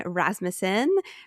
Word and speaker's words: Rasmussen: You are here with Britney today and today I am here with Christian Rasmusen.